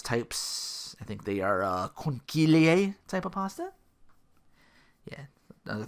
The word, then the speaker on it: conchiglie: I think they are conchiglie type of pasta. Yeah, another thing I had to look up. Because here's the word. Here's how you say it. There's no K in it. Conchiglie.